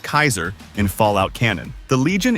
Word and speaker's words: Caesar: Inspired by ancient Rome and led by Caesar, pronounced Kaiser in Fallout cannon, the Legion is notorious for its anti-technology stance, slavery, and ruthless military rule.